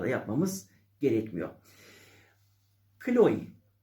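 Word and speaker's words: Chloé: telaffuzlar da yapmamız gerekmiyor kloe kloe şeklinde sonu e ile biten markanın o e'si iye dönüştürü musunuz kloi Serdar Ortaç'ın ek eşi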